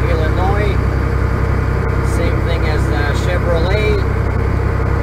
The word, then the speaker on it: Illinois: name to Russian because in Russian they pronounce all the letters and they say Illinois where the of course in English Illinois same thing as the